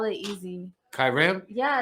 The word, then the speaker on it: Kyirrim: yeah, but I have to write in parentheses like it's pronounced Kyrim because I've had people on stage be like Kyrie.